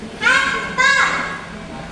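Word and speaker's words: حتى: Hatta. Fathah diikuti alif. Maka itu disebut sebagai matobi. Baca panjangnya berapa? Dua harokat atau satu alif. Jadi bacanya hatta ya. Jangan terlalu panjang juga tidak boleh terlalu pendek.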